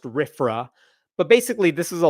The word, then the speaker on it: RFRA: It's usually pronounced RFRA.